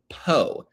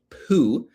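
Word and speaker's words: Pou: And then you've got Congresswoman Nellie Poe, P-O-U. It is not Nellie Poo.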